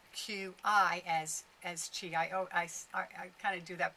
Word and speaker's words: Qi: it's spelt Qi as Qi. I kind of do that by accident. I always say Qi when I see it because that's the Chinese way. Qi is Qi, and Chi is also Qi.